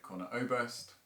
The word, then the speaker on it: Conor Oberst: song called you are your mother's child by conor oberst uh i've done my research and that is definitely how you pronounce it um so come here for a